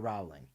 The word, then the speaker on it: Rowling: She says in her Twitter bio she says author founder of Lumos and Beerus Palace surname rhymes with bowling and not growling.